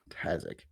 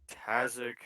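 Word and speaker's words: Tazziak: uh you are looking for tassic or calm kasich kazak spelled like it sounds yeah t-a-z-z-i-a-k okay and he's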